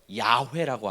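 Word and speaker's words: Yahweh: 자, 근데 이 야훼는요, 이걸 발음하기 위해 혓바닥을 쓰지 않습니다. 입술도 닿을 수 없습니다.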